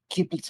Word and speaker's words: Giblets: Well, I'm not sure if it's giblets or giblets. Giblets. It's a Mr. soft G. Giblets.